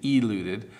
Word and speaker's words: eluded: So alluded, eluded. If I force the pronunciation, I might say eluded, but it's eluded.